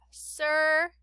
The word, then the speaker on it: circle: And then this bottom one, the C in the beginning has an S sound, not a hard C sound. So we have circle.